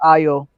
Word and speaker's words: Ayo: It's pronounced Ayo.